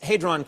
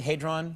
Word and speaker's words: hadron: what they are saying this hron am I pronouncing it correctly hadron yeah hadron hadron yeah tomato tomato it smashes